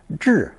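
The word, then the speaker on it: 豸: Pronounced fourth tone, zhi, zhi.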